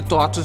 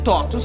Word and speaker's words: TOTVS: muita gente se pergunta porque um V no lugar do U bem porque totos vem do latim porque em latim totos se escreve assim com v e significa tudo todos e